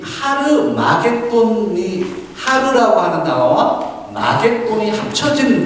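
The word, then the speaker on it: Ἁρμαγεδών: 영어도 음력을 했고, 영어에서 그냥 히읗자 있죠. 거기 앞에 어포스트로피 같은 그런 게 찍혀 있어요. 그 점이. 그게 히읗자를 만들어요. 그래서 하르마겟돈이라고 읽어야 돼요. 근데 이것을 아마겟돈이라고 번역을 했고, 영어가 그렇게 아마겟돈으로 번역을 하니까 한글도 아마겟돈이 된 거지만 사실은 하르마겟돈이라고 음력해야 됩니다.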